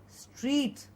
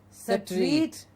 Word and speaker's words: street: with this consonant cluster Street it is not set rate but Street stress knots at rest